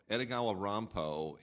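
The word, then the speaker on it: Edogawa Rampo: was not edagawa Romo edagawa Romo is sort of the Japanese pronunciation of Edgar Allen po oh and see and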